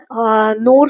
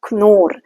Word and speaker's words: Knorr: Okay, in English we say, mostly we'll say Knorr soups, but in German it is Knorr, KNOR, Knorr. So that K you have to pronounce.